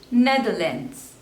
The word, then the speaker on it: Netherlands: Namibia Namibia next is Netherlands Netherlands there are three slavers and the stress is on the first one Netherlands Netherlands Netherlands next